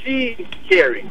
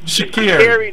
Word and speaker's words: Sha'Carrie: So her name is pronounced Sha'Carrie. Sha'Carrie, not Sha. Okay, yeah. Sha'Carrie. So it's weird because it looks like the way that it's spelled, because car is in it, it should be Sha'Carrie, right? But it's not.